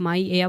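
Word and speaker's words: Maia: इसे आप माय एया बोल लो या माया बोल लो।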